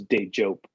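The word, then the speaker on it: Dejope: but it's a hard j like jump so it's day joke um and so we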